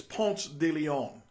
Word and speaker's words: Ponce de Leon: The real name of it, if you want to give the politically correct name, it's Ponce de Leon. All right? But if you say Ponce de Leon while you're in Ponce de Leon, if you say it correctly, there's something that's going to be missing.